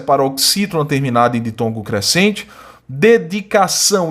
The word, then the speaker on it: dedicação: A está sendo nasalizada, em vez de você pronunciar A, você pronuncia AN, seleção, dedicação, né? E são duas palavras oxítonas, porque a sílaba tônica é a última, né?